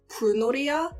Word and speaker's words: 불놀이야: Especially in the chorus When you just say the word 'bulnoriya,' it flows together But they're specifically saying 'bul - nol' So the r,l sound doesn't roll into the 'e' So, I was like, Oh.